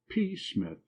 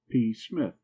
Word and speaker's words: Psmith: decided to adopt the P Smith the P I should add for your guidance is silent as in p psychic and Tagan you follow me